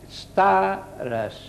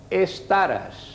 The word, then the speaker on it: stares: és més còmode dir estares, però hem de procurar començar per la S, stares, stares.